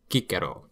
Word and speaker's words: Cicero: and the fact that this guy's name in his time was Kikaro.